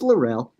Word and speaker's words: Larrell: I keep on mixing up the pronunciation, whether I say Larrell or Larrell. It's Larrell. Is it Larrell? Yeah, it's Larrell.